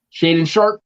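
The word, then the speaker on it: Shaedon Sharpe: sharp did i say it right you did shade and sharp out of kentucky which when i went and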